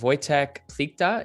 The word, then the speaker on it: Wojtek Plichta: I am joined today by the talented, wonderful Wojtek Plikta, if I'm saying that correctly. Wojtek, please correct me if I just butchered your name.